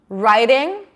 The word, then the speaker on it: writing: Writing. Am I saying writing a book or riding a bike? It's the same sound, right?